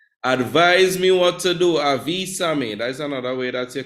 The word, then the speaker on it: avísame: Advise me what to do, avísame. That's another way that you could ask for advice. It's kind of a command, but it can be used still. Avísame, you notice the accent on the I?